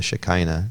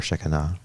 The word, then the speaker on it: Shekinah: So it's talking about, the Shekinah, I think it's called, right? Or Shekinah, one or the other. It's pronounced both ways.